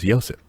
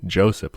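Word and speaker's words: Josip: the pronunciation of him his first name is joseph ah like like with a p yeah but like with it starting with a y i was saying joseph like an idiot so i'm sorry it's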